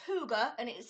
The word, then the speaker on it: hygge: and have a look what it means it's pronounced huger and it is spelled hy gge okay I